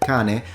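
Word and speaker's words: cane: can be formed by a simple C like in the word Kane or a CH like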